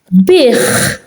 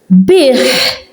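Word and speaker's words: biegħ: Here you're hearing it as a h. Here it's in the middle and I'm not pronouncing it. So, zazuh. Bich. Bich. So I'm pronouncing it because it's at the end of a word.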